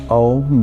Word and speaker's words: ओम: ओम जो है इसका उच्चारण 90% से ज्यादा लोग गलत करते हैं। ओम में ए, यू, एम, अ, उ और म तीन अक्षर और दो गुप्त अक्षर हैं।